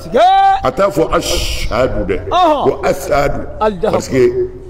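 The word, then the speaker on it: أشهد: misiri wele kan a b'a fɔ de ko asahadu a t'a fɔ ashadu dɛ ko asahadu parce que ale ye farafin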